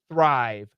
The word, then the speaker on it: thrive: So when you do a TH sound, your tongue must be between your teeth. Thrive, thrive.